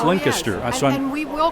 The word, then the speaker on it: Lancaster: and I've learned since I've been here it's linked astir I saw we will correct you well listen you have any any stories of mr.